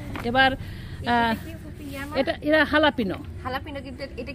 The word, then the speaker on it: jalapeño: হচ্ছে আমেরিকানে এটা বলে হচ্ছে মেক্সিকান মরিচ অথবা হালাপিনো বলে, এরা যে দিয়ে উচ্চারণ কিন্তু হালাপিনো বলা হয় আর কি।